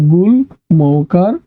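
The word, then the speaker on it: গুল্ম: ওকে একই সাথে আমরা যদি আমি যদি বলি গুলম গ এর সাথে ম এর উচ্চারণ করলাম। তাহলে এর উচ্চারণ কি হবে? গর সুকার গু ল আছে ল এর সাথে ম তাহলে উচ্চারণ হবে গুল মৌকার ম গুলম ওকে এখন একটু আসি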